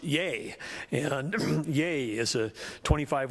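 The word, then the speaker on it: YEA!: is the there is ye a with an exclamation mark is pronounced yay and yay is a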